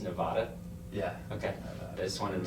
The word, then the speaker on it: Nevada: I grew up in Reno, Nevada, and Did you know it's not pronounced Nevada?